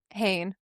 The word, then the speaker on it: Hehn: Did I pronounce that right? H Hayne.